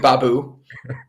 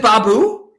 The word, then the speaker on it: Baboo: it yes yes mr babu you know that's that that's the first time you've actually pronounced my last name right is it is it baboo yes do you want to